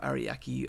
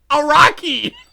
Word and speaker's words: Araki: How does he pronounce Hirohiko but not Araki? Especially since there's no I after the second A.